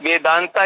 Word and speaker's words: Vedanta: आप प्रयागराज कहते हैं, वैसे ही वेदांता को अब हम वेदांत कहते हैं, क्योंकि वेदांता जो है ये इसका इंग्लिश एंग्लिसाइज प्रोनाउंसिएशन है। तो इसका मूल नाम जो हिंदी में संस्कृत में होना चाहिए वेदांत।